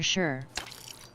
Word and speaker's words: shire: shell Mouse potato said Shire over here is only pronounced sheer or sure gland Tre Mage said